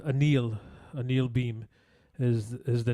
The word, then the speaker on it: Anil: Actually, last night watching the wake and so forth, it was known that he likes to go by the pronunciation of Anil.